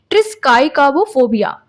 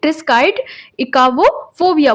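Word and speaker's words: triskaidekaphobia: तो ऐसे जो डर होते हैं जो व्यक्तियों के अंदर, ऐसे जो पर्सन होते हैं उनको हम बोलते हैं ट्रिस्काइकाबोफोबिया। क्या बोलते हैं? ट्रिस्काइड इकावोफोबिया बोलते हैं।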